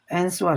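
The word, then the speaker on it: answer: अब जैसे आंसर है, आप देखिए ये क्या है, आंसर है। ठीक है, आंसर है लेकिन इसको पढ़ते हैं आंसर, आंसर, तो आपका डब्लू क्या है? साइलेंट है।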